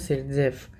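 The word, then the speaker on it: Zaitsev: अब Russian chemist Alexander जेटसेव also pronounced as सेटजेफ, ठीक है, रूल बताया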